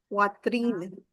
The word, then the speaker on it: poitrine: Your chest area is la poitrine. La poitrine. Why is the wa sound? This is in poitrine.